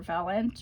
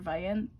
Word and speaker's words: Vaillant: It was called Fire Weather, A True Story from a Hotter World by John, either Vaillant or Vaillant, depends if you pronounce it the French way or not.